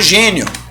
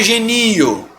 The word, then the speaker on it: gênio: De novo, Guilherme, por que não é genio? Como é que você separa assim? Genio. Por quê? Porque senão a pronúncia vai ser genio. Tá bom? Beleza, gente? Então, ó, gênio. Não é genio.